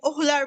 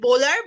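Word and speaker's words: Wöhler: কিন্তু আমাদের একটা বিজ্ঞানী আছে, গেম চেঞ্জার বিজ্ঞানী, যাকে আমরা বলবো ফ্রেডরিক বোহলার বা ওলার। অনেকে এটাকে ফ্রেডরিক বোলার বলে, ওহলার বলে। তো বেসিকলি ফ্রেডরিক বোলার বা ওহলার, যেটাই বলো, ভোলার বা ওহলার, তোমরা এটাকে প্রোনাউন্স করতে পারো বোলার বা ওহলার।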